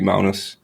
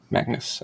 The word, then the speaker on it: Magnus: a clean pronunciation yeah i guess in danish it would be mounis but i in english it's magnus i guess okay whatever